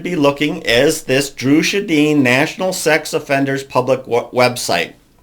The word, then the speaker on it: Sjodin: Dru Sjodin, and I'm sorry, I think I'm saying her name wrong just a little bit. It's Sjodin, so Sjodin, was raised in Pequot